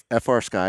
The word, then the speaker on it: FrSky: okay well I mean traditionally FR sky or free sky over how we like to pronounce it we could do free